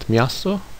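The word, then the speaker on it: miasto: a cake or dough or sound like the letter J as in the word miaso which means a city or town or as in the word of vioska which means a village.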